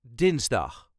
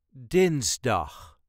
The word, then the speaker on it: dinsdag: maandag Next up is dinsdag dinsdag emphasis on dins dinsdag dinsdag Mijn vergadering